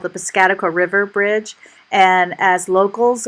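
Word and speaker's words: Piscataqua: And as locals, we always had fun listening to how people that weren't from Maine would pronounce that bridge. It would usually be something like pisticapta or something like that.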